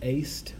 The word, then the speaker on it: est: Edunt is the plural of the verb, and eist with a long E is the singular, he, she, it eats.